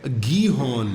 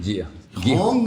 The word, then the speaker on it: Gihon: How do you spell that? Gihon? Gihon. Sounds very East Asian, nahi? Sounds very Hebrew. Okay. Gihon. جی Hong نہیں.